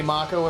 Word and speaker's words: Mako: front of it so speaking of pronunciation Mako Mako Mako or Mac Oh a lot of these names are pronounced Japanese I may slip into either the Japanese or the anglicized pronunciation gym we'll call it Mako but I might say Mach Oh everyone's alive please